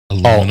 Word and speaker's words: aluminium: Aluminium, or however the British pronounce it. What is it? Aluminum. Oh, aluminium. Aluminium. Yes. Aluminium. Yeah, there's only one eye.